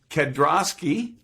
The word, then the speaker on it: Kedrosky: want to make sure i have it correct kedroski you got it okay perfect eric's the first